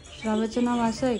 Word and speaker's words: श्राव्या: श्राव्याची spelling काय आहे माहिती तुला?